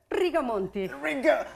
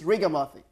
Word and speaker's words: Rigamonti: How do you pronounce the last name there? Rigamonti. Rigamonti. Because I know my viewers are like, Jesus Christ, get it right. It's Rigamonti.